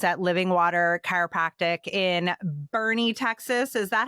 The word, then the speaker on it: Boerne: So Satie, you are the director of operations at Living Water Chiropractic in Bernie, Texas.